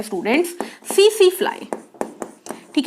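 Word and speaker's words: tsetse: तो निंद्रा रोग को फैलाने वाला है स्टूडेंट्स सीसी फ्लाई। ठीक है, इसमें टी साइलेंट है, हिंदी में लिखेंगे तो इसको लिखेंगे सीसी।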